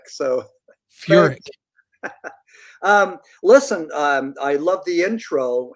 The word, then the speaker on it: Furek: And Michelle, thank you for pronouncing it correctly as Furek. And Wade, it's Furek. So Furek.